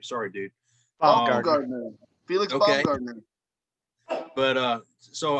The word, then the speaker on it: Baumgartner: Baumgartner.